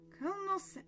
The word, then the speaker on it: colonel: Colonel Colonel Sanders. I I try and pronounce it as it's as it's written and it's not pronounced how it's written.